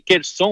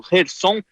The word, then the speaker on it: Kherson: mencionou, a cidade de Kherson, ou Kherson, dependendo da pronúncia, que fica no Mar